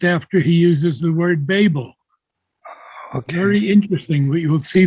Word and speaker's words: Babel: by the way the the pronunciation of the word is Babel Babel yes Babel we we say Babylonian